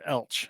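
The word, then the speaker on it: Elche: And the pronunciation you were looking for is Elch, by the way.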